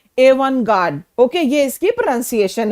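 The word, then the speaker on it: avant-garde: यह French origin का word है। और इसमें जो टी है, यह साइलेंट है। तो, इसकी प्रोनंसिएशन क्या है? इसकी प्रोनंसिएशन है एवन गार्ड।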